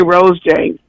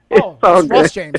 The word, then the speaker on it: Ross James: the weird thing is you always mispronounce the you you used to say Rose James but Ross James right yeah it but my